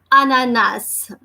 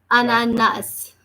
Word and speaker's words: ananas: you can see this say okay it is pronounced as Ananas Ananas Ananas okay why because the word is starting